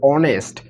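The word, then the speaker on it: honest: যদি কেউ হনেস্ট বলে থাকে, তাহলে সেটা অবশ্যই ভুল, আমাদের বলতে হবে অনেস্ট। তার মানে হচ্ছে এইচের উচ্চারণ হচ্ছে না এখানে, তাই আমরা অ্যান ব্যবহার করছি।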